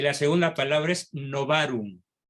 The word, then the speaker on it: novarum: y las segundas palabras novarum novarum no varón con terminación en m con v no van a ver